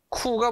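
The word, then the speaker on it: coup: 훌리건 야 비커 선택후 쿠가 뭐냐면 쿠데타 쿠데타 를 줄여서 내 쿠라 그래요 피는 발음을 안 해요 비커 서백후 쿠데타 때문에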